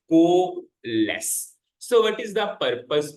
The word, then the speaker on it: coalesce: It is called as coalesce. I also studied the pronunciation for the same. It is coalesce.